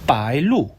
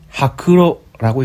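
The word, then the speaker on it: 白露: 빠일루, 하크로라고 읽습니다.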